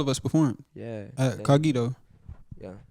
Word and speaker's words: Cogito: Yeah, it's like incognito, but without the.